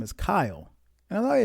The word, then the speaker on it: Kyle: You're probably going to say Kyle. It's It's two syllables. It's Kyle, not one, Kyle.